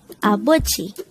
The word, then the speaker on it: 아버지: korean noun for father the word abuji could be divided into three syllables a is just the sound of a itself with a placeholder eon at the first position of the syllable bo is the combination of the sounds of b of and o while g is the combination of the sounds of chiyot and e apochi and with